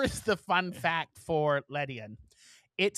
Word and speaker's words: Ledian: Pokemon 166 is Ledane. It is a 4-foot. Am I mispronouncing that? Yeah, it's like a 4-foot flying ladybug. Ledian. Oh, like median, but Ledian.